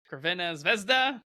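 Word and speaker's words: Crvena zvezda: Belgrade versus RB livig or if you'd like us pronounce red star Bel gr's real name Cena vesda however it dude well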